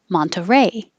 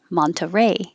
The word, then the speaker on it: Monterey: miami miami seattle seattle monterey with the t monterey or without the t monterey monterey 29 toronto